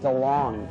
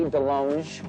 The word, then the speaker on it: DeLonge: I am Tom DeLonge, but it should be DeLonge, because I went to France and they said, you're pronouncing it wrong. I'm all DeLonge. No, it is DeLonge.